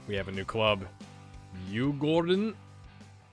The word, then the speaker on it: Djurgården: Djurgården is how I've listened to it online, is how to pronounce it. Not Djurgården. That was a bit French of me in the last episode.